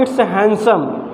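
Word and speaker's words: handsome: नहीं पता होगा यह हैंडसम नहीं है इट्स हैंडसम हैंडसम उसे फॉर ओनली मेल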